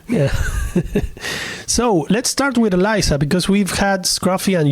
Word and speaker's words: Elyzah: Liza so um I'm Eliza with an H the like Sarah the H is silent um so it's not